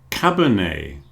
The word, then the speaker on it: cabernet: lot of cases, but one thing we all agree on is we don't pronounce the T. So, beret, buffet or buffet, cabernet, a type of wine,